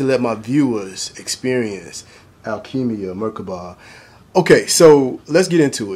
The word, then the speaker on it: Merkaba: You can even pronounce Merkaba is in macabre, but I go by Merkaba because I want to break it down for the syllables.